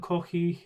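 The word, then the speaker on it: コーヒー: But that is ko, and is there a long E in kohi? Kohi, I think, I'm not 100% sure. I have to look that up actually. Kohi. I think actually there's a short one there. I think it's just kohi. Give me a few seconds and I'll look that up. Oh, yeah, no. It's kohi. It's a long E at the end as well.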